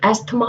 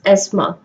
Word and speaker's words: asthma: इसको गलती से काफी लोग एस्थमा या अस्थमा बोलते हैं, while its right pronunciation is asthma.